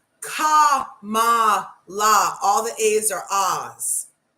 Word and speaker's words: Kamala: and a criminal okay she can look to camela Harris sorry come on come on my brother